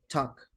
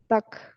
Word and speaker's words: talk: Sin la L. Talk. Talk.